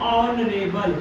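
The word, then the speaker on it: honorable: लेकिन ट्रिक सीखिए, उसके पीछे का रीजन क्या है, रीजन क्या है, इसको जब हम साउंड आ रहा है प्रोनाउंसिएशन करते हैं ऑनरेबल।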